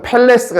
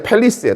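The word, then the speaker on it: palace: 궁전이란 단어는 발음을 주의해야 된다. 여기 A가 있지만요 발음은 펠리스라고 팰레스가 아니라 팰리스예요. 따 팰리스. 어, 발음을 주의해야 됩니다.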